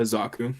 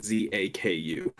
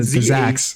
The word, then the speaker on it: Zaku: and then the Zaku's no the Zax Zaku.